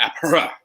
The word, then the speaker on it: Aphra: cool elliot's right by the way it is pronounced dr apra uh on a dc note anyone seen